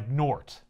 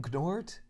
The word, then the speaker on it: Gnort: Gnort? Yeah, Gnort. Wow. I'm guessing the G is silent.